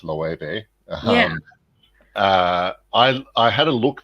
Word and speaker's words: Loewe: Yeah, So that's pronounced Loewe, there we go.